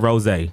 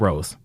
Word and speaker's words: rosé: We serve rosé, not rose.